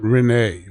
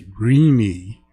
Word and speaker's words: Renee: It's not Renee, although it's spelled R E N E. It's Reinie and her given name is Irene.